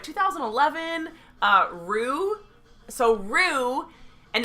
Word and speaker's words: Roo: So Rue, and Can it's you like spell that? ROO. Like kangaroo.